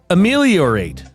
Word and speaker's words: ameliorate: The second word of the day, ameliorate.